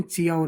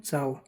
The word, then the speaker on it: ciao: जैसे दो उदाहरण देखते हैं, CIAO, चाओ, चाओ यानी हेलो या नमस्ते, इसको हम चियाओ नहीं बोलते, क्या बोलते हैं? चाओ।